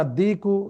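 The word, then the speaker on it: الدِّيكُ: তারপরে 5 নম্বর আর দিকু জামিলুন, মোরগটি সুন্দর, এখানেও আদিক লামটি উচ্চারণ না হয়ে সরাসরি দালে তাসদিদ যুক্ত হয়ে সেটি উচ্চারিত হয়েছে।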